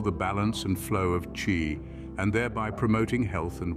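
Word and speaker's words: qi: is based on the concept of chi pronounced Chi An energy that flows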